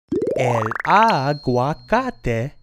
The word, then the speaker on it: el aguacate: That's called el aguacate in Spanish. El aguacate. El aguacate. And a coconut is pronounced el coco in Spanish.